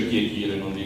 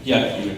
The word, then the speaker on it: piatire: Quando voi vi trovate a piatire, non si dice pietire, si dice piatire, questo è il verbo corretto, no, lo dico perché tante volte poi mi collego, invece è scorretto quello che ha preso piede.